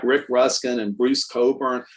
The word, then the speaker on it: Cockburn: So people like Rick Ruskin and Bruce Coburn, like Bruce Coburn is spelled Cockburn. So for the longest time, I thought it was Cockburn.